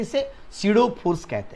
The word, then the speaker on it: pseudo: तो इसके बाद the centripetal force is सीडो force. सीडो, सीडो बोले तो ये जो स्पेलिंग आप देखोगे तो पी से शुरू होती है, PSEUDO।